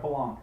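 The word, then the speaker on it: Palahniuk: And I can't pronounce that. It's Chuck Palong. Is that how you pronounce that? Palong.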